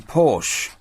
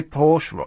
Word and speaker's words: Porsche: Mercedes but you say Porsche you say Porsche and people go oh it's not Porsche it's poor sure in much the same